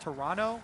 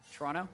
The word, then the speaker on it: Toronto: I was told actually by a tweet it's pronounced Toronto with no uh no T. Oh yeah. Today I learned Toronto.